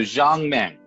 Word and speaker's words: Zhang Meng: n-e-n-g m-e-n-g m as in medicine fabulous so zhang meng yeah fabulous all right cool so we have